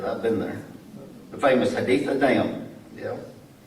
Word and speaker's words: Haditha: I know how to pronounce that because I've been there. The famous Haditha Dam. Yeah. Haditha, Iraq.